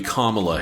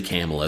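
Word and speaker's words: Kamala: I I'm pretty sure it's supposed to be Kamla Harris, but I just want to say Camela so bad.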